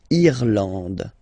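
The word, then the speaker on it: Irlande: and then okay thenand remember this is e and it should pronounce it should be pronounced like e eand irand okay n d and final uh not pronounced irand okay remember this and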